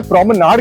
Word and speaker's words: promenade: अब इसका उच्चारण करने के लिए दो तरीके हैं। जो ब्रिटिश इंग्लिश है उसमें इसे प्रोमनाड कहते हैं।